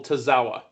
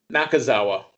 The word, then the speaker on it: Nakazawa: against the team of Kenny Omega and Michael Tozawa. Did I say his last name right? I might have said his name wrong, and I apologize if I said his name wrong. I think you got it. Nakazawa, sorry.